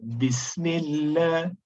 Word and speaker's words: Bismillah: Okay, so the common mistake here is omitting ba in the pronunciation. It should be Bismillah, not Bismillah. There's no ba. So Bismillah.